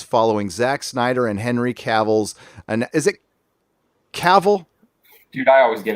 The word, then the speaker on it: Cavill: Cavill. I say Okay. Cavill.